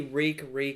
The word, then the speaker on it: Reek: It was nice to see Reek, it rhymes with Fleek, finally being on Fleek.